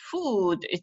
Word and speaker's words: food: Okay, and the last question here, does food rhyme with good? Most people said yes, it looks like that, but in reality, no, because food, there is a long oo sound, whereas good, it's short.